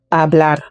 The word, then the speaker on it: hablar: The B challenge. Boca when the B is at the beginning versus when the B is in the middle or elsewhere. Hablar. Very suave. Baile when the B is